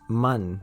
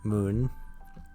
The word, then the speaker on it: Mun: burn for the moon it's pronounced man not moon um but we burn